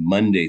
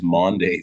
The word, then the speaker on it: Maundy: I remember first hearing about it in college, and I couldn't figure out why they were saying Monday Thursday, but it's Maundy Thursday from the Latin word for commandment, mandatum.